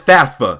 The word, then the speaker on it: FAFSA: Before I get into this one, I don't care how this is pronounced, I will always pronounce this FAFSA.